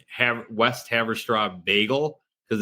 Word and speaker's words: Haverstraw: So- Steve's keeping minutes, so So the new EP, how do you pronounce it? Haverstraw? Haverstraw. Straw. Haverstraw? Haverstraw.